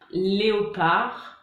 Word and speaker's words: léopard: Donc, on a les mots finissant par ARD, art, donc par exemple, brouillard, léopard, donc on ne prononce pas le D.